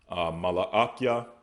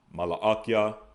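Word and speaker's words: מלאכי: Next, we have Malachi, which we pronounce as Malaakia. Malaakia, they pronounce as Malachi.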